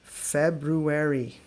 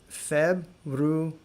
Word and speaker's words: February: And a very common word that many Americans even mispronounce. Feb-roo-er-ee. Fevral. So go slowly. It's hard to say. Feb-roo-er-ee.